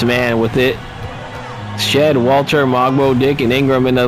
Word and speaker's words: Mogbo: So it's Mogbo is how his name is pronounced.